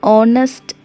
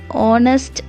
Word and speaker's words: honest: for example he's an honest man we do not even say hatch letter it sounds like a vowel because the letter h is silent we have to say he is an honest man not harnessed man